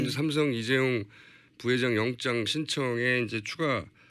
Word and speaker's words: 이재용: 최순실 씨가 이재용 부회장 이름을 이재룡이라고 주로 발음한답니다.